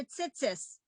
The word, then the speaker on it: tzitzit: This paragraph is the commandment for tzitzis, as some people would pronounce it, right? And that's why you have the on the talit, you have the tzitzit at the end, and